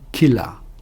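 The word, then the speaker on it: קלע: Une fronde en hébreu se dit Kela. C'est un cof, lamè et aï.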